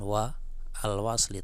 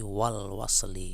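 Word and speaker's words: والوصل: Indad darji itu kan ini lagi Bukan wa alwli tapi Wal wasli kan seperti itu ini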